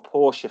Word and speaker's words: Porsche: But many Porsche or Porsche fans would disagree with me. The Germans pronounce it Porsche, like the character in The Merchant of Venice.